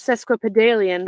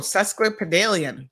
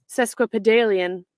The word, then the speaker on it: sesquipedalian: one's s-e-s crippy Valiant let's see how that one's pronounced Lord Jesus sesquipedalian oh susque padalian totally had that wrong sesquipedalian sesquipedalian you dear sir